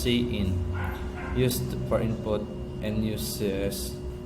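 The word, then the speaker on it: cin: and uses the insertion operator C in is pronounced C in used for input and uses the extraction operator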